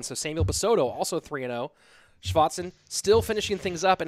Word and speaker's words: Schwarzen: Am I hitting that Schwarzen pretty well? It's pretty good. Schwarzen? Schwarzen? Yeah, sounds good. A little more on the A.